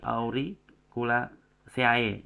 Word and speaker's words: Auriculaceae: Kemudian beberapa penggunaan kayak tadi auriculaceae ya, bukan CAE tapi C. Jadi auriculaceae atau misalkan yang lain-lain pakainya CAE di belakang kata itu bacanya cuma C ya.